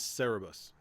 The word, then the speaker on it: Cerberus: red hair all right the pronunciation is cerebus okay so three dog